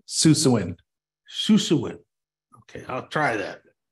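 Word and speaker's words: Susewind: Shushwind? Susawind.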